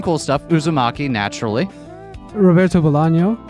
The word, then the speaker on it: Bolaño: Although now I'm remembering, does he have an enye, a tilde on that N or not? Is it actually Bolano all along and I've been saying his name wrong? No, there is a tilde on the end.